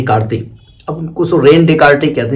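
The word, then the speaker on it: René Descartes: क्या किया जाएगा हम रनी दे काते कहते रनी देकते साहब थे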